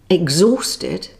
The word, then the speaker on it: exhausted: Here are a few more words with a silent H. Hour, honour, honest, exhausted, vehicle, and ghost.